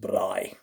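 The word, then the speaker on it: braai: the word you want to go bry it's pronounced bry and it's afrikaans for grill and we bry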